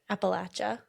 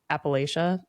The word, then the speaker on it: Appalachia: I will say I was taught Appalachia and it's wrong. Everyone, just for the record, it is Appalachia and Appalachin Mountains.